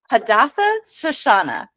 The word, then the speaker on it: Hadassah Shoshanah: Here's the inflection of the syllabic inflection and the prosody. It goes Hadassah Shoshanah.